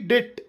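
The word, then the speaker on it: debt: bomb bomb ಅಲ್ಲಬಿಓಎಂಬಿ bomb ಸಾಮಾನ್ಯವಾಗಿ ಟಿ ಅಕ್ಷರದ ಮುಂಚೆಬಿ ಬಂದರೆ ಬಿ ಸೈಲೆಂಟ್ ಆಗಿರುತ್ತದೆ ಹೇಗೆ ಡಿಬಿಟಿ ಡೆಟ್ ಸಾಲ ಡಿಬಿಟಿ ಡೆಟ್ ಡೆಪ್ಟ್ ಅಲ್ಲ ಡೆಟ್ ಡಿಓ ಯುಬಿಟಿ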